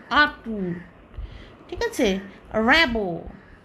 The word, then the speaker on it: Rimbaud: আতু আতু ঠিক আছে র‍্যাবো র‍্যাবো এরকম হবে আর ওটা ভূতের ভাষা